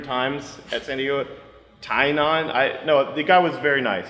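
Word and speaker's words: Tynion: It's co-written by number 4, which is the James, I can't pronounce his last name. He told me like 3 times at San Diego. Tynon.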